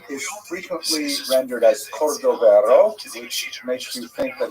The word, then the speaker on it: Cordovero: his Matseva, his gravestone, it's Cordoero. It's a Portuguese spelling, but it's kind of a strange thing to pronounce in Hebrew, so it was sort of mangled into Cordovero, and that has become the standard, even though it's probably not correct.